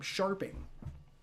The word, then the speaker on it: Scharping: Max Scharping. That's how you pronounce his name. Scharping.